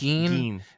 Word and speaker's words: Gein: Oh God, it's Gein? Geen. It's Geen. They even make a big point in the book about the pronunciation.